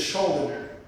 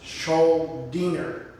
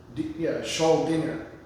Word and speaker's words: Schuldiner: I always thought for years it's Schuldiner. That's just how I thought it was pronounced, Schuldiner. But it's Schuldiner. Schuldiner.